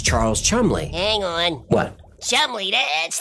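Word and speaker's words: Cholmondeley: Chumley, that's not what it says on the screen. Yeah, I know, that's how he pronounced his name.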